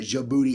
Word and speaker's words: Djibouti: Look at the country of Djibouti, Africa.